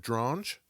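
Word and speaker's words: Dronge: Do you remember Alfred Drange? Rhymes with orange.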